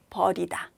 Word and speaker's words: 버리다: 그래서 발음이 비슷하지만 긴 소리, 짧은 소리만 다르다. 버리다. 버리다. 이렇게 구별하시면 됩니다.